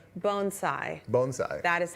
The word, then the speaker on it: bonsai: I know, and he taught us how to say bonsai.